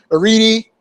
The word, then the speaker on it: Arete: Which, of course, the people that make the announcement can never pronounce, right? Arete, yeah, whatever.